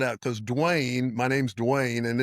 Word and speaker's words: Duane: Well, let me spell it out because Dwayne, my name's Dwayne and it's spelled like five million different ways.